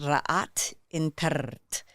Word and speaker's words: Ra'at Intert: And in the Kemetic lineage and language, it's pronounced Ra'at Intert, and it means light supreme.